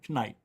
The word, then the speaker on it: Knight: Dawn Knight. Knight. That's how you say it. I know it's not. I just like to see people get it. It's not how you say it, Rich. The K is silent.